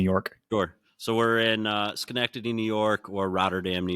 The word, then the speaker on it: Schenectady: And Derek, you're going to have to help me out with how you pronounce the city you guys are located in New York. Sure. So we're in Schenectady, New York, or Rotterdam, New York.